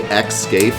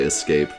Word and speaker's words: escape: okay that's fine but whenever i say xscape it drives her insane she can't stand it and i do it often because i'm bad and i forget i try to say escape but i just i don't